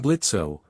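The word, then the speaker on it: Blitzø: I'm Blitzo." The O is silent.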